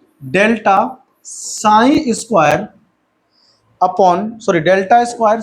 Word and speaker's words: psi: साई, ठीक है ना, सॉरी PSI गलत पढ़ दिया मैंने, PSI साइन पढ़ते हैं इसको, ई साइलेंट है उसमें, साइन पढ़ते हैं।